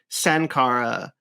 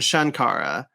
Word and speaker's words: Shankara: thing altogether um so you can make the case at like Sankara and shankara are meant to be the same person it's just a mispronunciation uh on the script writer's part they were they forgot that it's meant to be spelled shankara so there's so that yeah